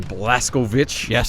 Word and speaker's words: Blazkowicz: of course you play as returning protagonist BJ blaskovic which is how they pronounce his last name of the game so